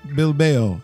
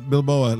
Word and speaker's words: Bilbao: Athletic Bilbao. And it's not Bilboa like Russell said earlier, like Rocky. It's not how you pronounce it.